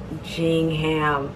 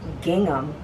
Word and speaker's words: gingham: about pronunciation gingham oh i'm saying it wrong it's gingham gingham okay let's look at